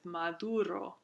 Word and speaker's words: maduro: So here we have in Old Spanish that voiced stop, and in modern Spanish it's still spelled the same, but it's pronounced as a fricative, maduro.